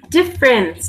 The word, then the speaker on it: difference: Okay, so the last one then is difference, difference, difference. Difference. What am I not pronouncing here? The E at the end, difference.